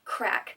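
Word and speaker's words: craic: One important Irish word that you will need to know when you're there is crack. It is not an illicit drug. Crack is spelled C-R-A-I-C, and it means good time, shenanigan.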